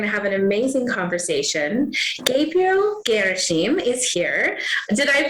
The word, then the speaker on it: Gabriel Gherasim: Gabriel Gherasim is here. Did I pronounce that correctly?